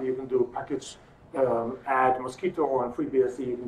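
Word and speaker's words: Mosquitto: The English word mosquito is, of course, spelled with one T, but Roger was looking for something that contains MQTT, and that's why we call it mosquito.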